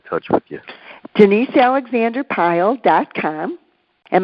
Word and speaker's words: Pyle: with you janeshia alexander pile comm and my last name is spelled py le like Gomer pile and I'm there my